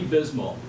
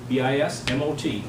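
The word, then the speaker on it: Bismot: But he went by Ernie Bismo, B-I-S-M-O-T, the T is silent.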